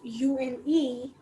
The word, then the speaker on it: une: And so 1 in French is written as UNE or UN. UNE is pronounced as une, which is one only, and UN is also pronounced as a.